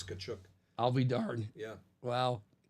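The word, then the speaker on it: Tkachuk: ask the players how was your last name pronounced in the beginning he was Walt tchuk oh really yeah and then I I guess eventually somebody or maybe Walder himself said no it's kachuk I'll be darn yeah well uh so again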